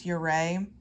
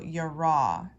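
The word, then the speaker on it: יראה: That word fear, commonly pronounced in the Hebrew as yireh, I actually think yirah is more accurate because it ends with a hey, which we pronounce hey as H-E-Y, but I actually think more accurately it's pronounced ha, so yirah.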